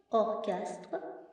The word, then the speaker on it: orchestre: Mais parfois, la lettre CH font aussi le son que dans certains mots comme chronomètre, orchestre, technologie, écho.